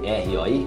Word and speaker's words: roi: R-O-I, roi. Então, sempre que tiver O-I, é wa.